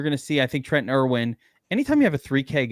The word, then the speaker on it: Trenton Irwin: Trenton Irwin. Trenton. What did I say? Trenton Irwin.